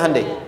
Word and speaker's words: Hyundai: bikin Honda sini hundai Hyundai kan dibacanya hundai ya kan sana Honda sini hundai gu di apapun yang